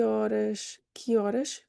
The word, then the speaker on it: horas: And then que horas, spelling like this in English is common. Horas, no H, why? It's not pronounced in Portuguese.